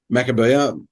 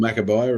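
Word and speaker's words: Maccabiah: Is it Makabaya or Makabia? Makabia. I've heard it called Makabaya as well, but I just didn't want to say it wrong.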